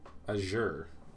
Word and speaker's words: azure: was going live ager this is actually pronounced azure i thought it was an emphasis on the second level am i wrong azure drake i feel like azure is also fine i care oh so